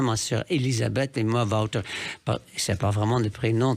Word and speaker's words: Wouter: Mes deux frères encore, peut-être encore quelques nièces, quelques neveux, mais globalement, on prononce ça Wouter, parce que Wouter, pour un chanteur, c'est peut-être pas tout ce qu'il faut faire.